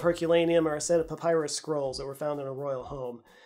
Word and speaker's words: papyrus: Also, you're welcome for me pronouncing it papyrus, because half of you glitched out in my cylinder seals video when I said it a different way.